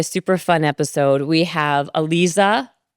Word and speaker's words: Aliza: We have Alisa, right?